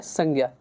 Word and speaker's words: संज्ञा: संज्ञा, इसका जो रियल प्रोनाउंसिएशन है वो है संज्ञा।